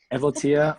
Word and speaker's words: Evotia: But congratulations to, you know what, is the accent on the first vowel or the second one? Evatia, or is it Evotia? Evotia.